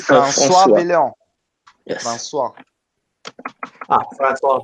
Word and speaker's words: François: By the way, Jonathan, can you back me up that I actually pronounced his name correctly because French is not my thing? It's François François.